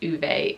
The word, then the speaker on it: Ove: a man called U I know him as o I relate to this character as ove and I call him o in my head but I acknowledge that this is pronounced uve in Sweden or wherever the book has its